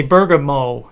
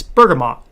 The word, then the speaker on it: bergamot: words incorrectly um like i used to say bergamo where i learned it's bergamot or bergamot well if you're if